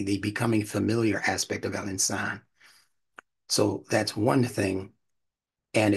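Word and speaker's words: al-insan: i n s AA for pronunciation sake and excuse me to be pronounced an insan don't say Al insan say Al insan because that vowel elongation is a part of what's necessary down the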